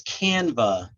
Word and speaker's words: Canva: uh oh yeah it's canva c-a-n-v-a B is in Mr a canva yeah like like an artist canvas but it's canva okay thank you um